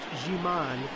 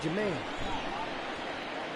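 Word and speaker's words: Ji-man: I know his name is pronounced Jiman, but I like saying Jaman.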